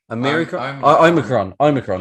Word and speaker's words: Omicron: Now it's forgive me if I pronounce this wrong. Is it the Omicron? Omicron.